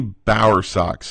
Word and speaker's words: Bowersock: Bowersock's greatest name on the planet. Am I pronouncing that correctly?